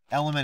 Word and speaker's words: LMNT: Element is spelled LMNT, in case you've never heard of it.